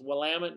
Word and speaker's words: Willamette: Joe right he is the winemaker at left Co cellars in the Willamette Valley in Oregon and yes it's pronounced Willamette not William William it so anyways